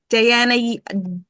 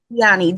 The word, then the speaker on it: Dyani: Diana Dyani, I have to remember to say it correctly, It's is one of our Dyani.